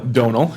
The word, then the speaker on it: Domhnall: Domhnall Gleeson. Is that how you say it? I Googled it before the last time I had to say it. There you go. Domhnall, yeah.